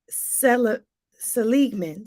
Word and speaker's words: Seligman: uh positive psychology his name is Martin see Seligman Seligman his name is spelled s-e-l-i-g-m-a-n Martin Seligman he's known as the